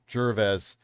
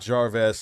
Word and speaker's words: Gervais: It's pronounced Ricky Gervais. Not Jarvez, like Iron Man's computer.